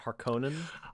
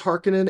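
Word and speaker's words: Harkonnen: uh harken uh Harkin and you're saying not harkonan I I am using the pronunciation that uh Villeneuve movie says harkinen uh actually I'm using the pronunciation that the author uh why can't I remember his name Frank Herbert thank you Frank Herbert did readings of the book in the 60s oh and he says okay he says hearkenin and Atreides but betray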